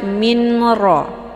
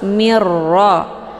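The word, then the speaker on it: مِن رَّبِّهِ: Jadi jangan dibaca minra, itu bacaan yang salah, tapi langsung mirra.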